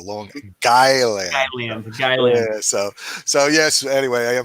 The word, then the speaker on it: Long Island: way pete pronounced it long island long island it's like a long and then island i like that that's actually if you if you pronounce it properly it's like guy land a long island so yes anyway i